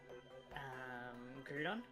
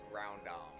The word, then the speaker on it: Groudon: I think that, like ground, like Groudon. Groudon. But I guess it's because like of all the U's we have in our words, like in the Australian words, that Groudon also kind of makes sense.